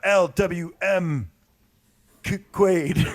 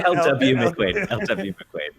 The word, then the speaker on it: LW McQuaid: and finally we've got l w m quade no it's lw mcquaid lw lw i